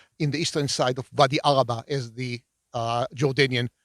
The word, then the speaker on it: Wadi Araba: What you see in the Israeli side of the Arava versus what you see in the eastern side of Wadi Araba, as the Jordanian pronounce it.